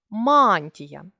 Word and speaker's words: мантія: звуковий у фонетичній транскрипції поставили наголос мантія наголошений а а також вказали що